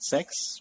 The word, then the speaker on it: CEX: for uh centralized exchange I like how you call it CX uh many people pronounce it sex which is good for